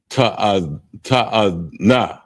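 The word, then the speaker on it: תאנה: And it's pronounced ta'ana. Ta'ana.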